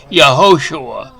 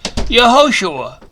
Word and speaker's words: Yahushua: the name Joshua well that's an anglicized for it's actually yahushua in Hebrew because there are no J's in Hebrew but the strongest concordance number is 30 91 and it's the original pronunciation was yahushua fact six in Matthew 1 verse 21.